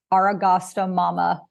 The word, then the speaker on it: Aragostamama: And then it's Aragasta Mama. Did I say that right? .com. Yeah. And I want to spell that out for everybody.